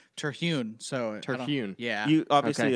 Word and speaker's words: Terhune: Brent Terhune I mean to me am i pronouncing Terhune right sure yeah I say Terhune so ternoon yeah you obviously adopted the name